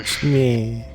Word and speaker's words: Shmee: Shmee. It's silent. The T is silent.